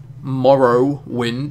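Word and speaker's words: Morrowind: to that guy MWI Morrow wind is how it's pronounced nice vid like always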